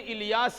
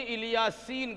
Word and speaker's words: الیاس: کہیں الیاسین کہا ہے۔ یہ دونوں لفظ، دونوں کا تلفظ ہوتا جس طرح طور سینا کہا گیا اور طور سینین بھی کہا گیا، اسی انداز سے الیاس اور الیاسین اس نام کے دو تلفظ ہیں، پڑھنے کے دو انداز ہیں۔ بہرحال الیاس علیہ السلام